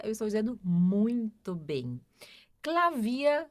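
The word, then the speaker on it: Klavier: Clavia é piano. Clavia, ó. Então, terminou em er. Clavia.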